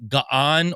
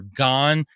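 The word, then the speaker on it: Gaan: They're called the Ga'an or Gan. You can spell it G-A-H-N or G-A-A-N.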